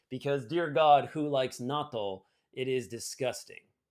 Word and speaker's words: natto: dear god who likes natto it is disgusting also thinking about it is not a long o i feel like it